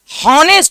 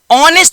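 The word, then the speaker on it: honest: जैसे मैंने बोला हॉनेस्ट ओह हो नो ऑनेस्ट बोलते हैं। एज साइलेंट होता है।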